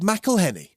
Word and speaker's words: McElhenney: He's gone out of his way to create a special birthday song for his co-owner of Wrexham Football Club, Rob McElhenney.